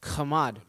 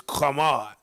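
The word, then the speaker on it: חָמַד: that yep right there that's good strongs definitions kamad that's how you pronounce it it's kamad that's the uh that's the Hebrew pron pronunciation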